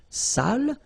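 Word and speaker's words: sale: So if you don't put the accent, it means dirty and then you pronounce it sal.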